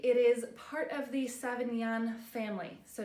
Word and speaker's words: Sauvignon: is part of the seven young family so not Savion Blanc not Cabernet Sauvignon not that family but seven yen so SAV AG ni n7 Yin and this family is